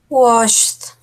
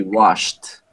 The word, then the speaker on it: washed: What about the correct pronunciation of the verb wash in the past? Wash What? with Can you repeat, please? washed with D. With a D? Sweetie, it's going to be with a T. It's going to be washed. wash.